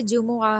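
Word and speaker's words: جمعة: इस्नाइन Monday Sulsa Tuesday अल Arabia अल अरबियाउ Wednesday अल खमीसु Thursday अल जुमआ इसको जुम्मा नहीं हम कहेंगे। यह हम उर्दू में कहते हैं जुम्मा। अरबी में यह जुमआ है।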